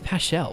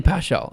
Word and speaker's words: paschal: you say it was ha passage i can't pronounce it no it's totally pow shell oh wait come on